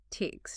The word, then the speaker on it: takes: The s sounds like s. Takes, not z.